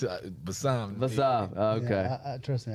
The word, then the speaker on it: Bassam: It's Bassam.